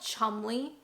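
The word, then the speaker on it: Cholmondeley: Would you ever look at that and think, Oh, I love Chumley.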